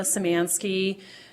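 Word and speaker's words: Szymanski: and go ahead good morning this is samansky last name is spelled s z y m an ski bar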